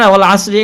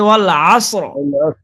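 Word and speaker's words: وَالْعَصْرِ: ওয়াল আসরি ইন্নাল ইনসানা লাফি খুসর। জি হুজুর। ওয়াল সেই এটা মোটা হবে, ওয়াল আসর।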